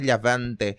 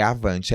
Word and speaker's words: Lhavante: A pronúncia ficou hispânica, né? Lhavante. Mas é Avante, L-H, Avante.